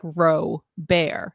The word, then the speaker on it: Robert: Like it's like if I was communicating via email, I was like, my last name is Robert, pronounced like Roe Bear.